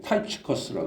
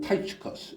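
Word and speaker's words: Tychicus: 보면 두기고는 인물이 등장하는데 영어로 발음할 때는 발음이 완전히 달라요 타이커스 발음합니다 영어로는 타이커스 우리 이제 한글 음력으로는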